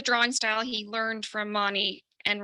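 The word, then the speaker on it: Mahony: style he learned from I know you told us how to pronounce this but um it's not Mahoney um and right even as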